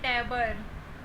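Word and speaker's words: tabor: एक और देखते हैं टैबर। जो ओ है यहाँ पे आ का साउंड आएगा।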